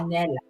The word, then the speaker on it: Pahanella: Ladies and gentlemen, Pahanella. Oh my God, I'm so Hello. bully. Hello. Thank you for joining us here at Talk Alley. we pronounce her name right? Yes, that's right. Pahanella.